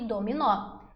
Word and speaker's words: dominó: Dominó, o nó é mais forte.